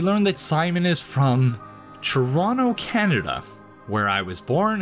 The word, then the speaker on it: Toronto: That is, by not pronouncing the second T, as in Toronto, as opposed to Toronto, which is how most people who are not from here pronounce it.